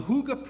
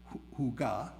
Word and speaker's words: hygge: The Hygge principle, pronounced Hygge, right, just like I'm saying it instead of Hygge, it's spelled H-Y-G-G-E, is a Danish concept